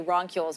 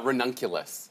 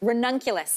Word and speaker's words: ranunculus: how to pronounce it I always say rules but there is a correct way to say it uh ranunculus ranunculus yeah ridiculous yeah yeah